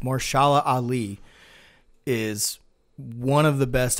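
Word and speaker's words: Mahershala Ali: was really good yeah Marcia al-ahli or would I mean say his name wrong it's more shala Ali is one of the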